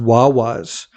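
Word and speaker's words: guaguas: By the way, the um a bus in this part of the world is pronounced wawwas. That's the name for buses in Tenneref.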